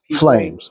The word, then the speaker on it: Pflames: Flames.